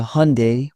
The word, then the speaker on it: Hyundai: Some pronounce Hyundai as if it were Hyundai. The correct way is closer to Hyundai, which surprises many.